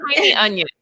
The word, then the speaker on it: Tynion: I think Tiny Onion. Tynion. That's right. T-N-Y, Tynion. Come on, Sarah. Tiny. English is my second language. Right? And Tiny. I'm going to say Tiny Onion.